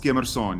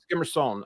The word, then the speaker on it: Skemerson: And is it pronounced Skemerson in Afrikaans? Yeah, that's very well pronounced. Skemerson, yeah. Skemerson, okay.